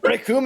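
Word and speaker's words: Recoome: Rickoom and Vegeta. This one was, like, a weirdly great fight. Like, why was this fight so exciting? Because the name's Rickoom, and it rhymes with Doom.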